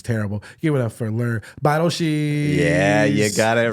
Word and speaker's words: Lehr Beidelschies: Give it up for Lehr Beidelschies.